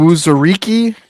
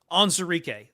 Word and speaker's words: Onwuzurike: Onwuzurike. Onwuzurike.